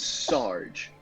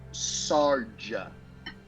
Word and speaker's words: Sarge: airing all this out my name is sarge you've all been pronouncing it so wrong sergio sergio no sarge yeah sarge right sarge